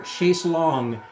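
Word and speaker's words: Chaise Longue: I became aware of them in 2021 with a video that was thrown into my YouTube algorithm for Chase Long. And yes, I am pronouncing that correctly.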